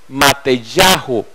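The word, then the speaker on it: Matityahu: la palabra es correcta la pronunciación correcta es mate yahoo matthei ajo porque contiene el nombre del eterno en el centro del nombre entonces por eso algunas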